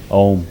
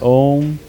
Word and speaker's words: Om: But for instance, we will practice this mantra chanting with using the sound of om which is three syllables a u and m.